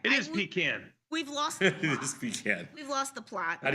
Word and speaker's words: Pekin: It is Pecan.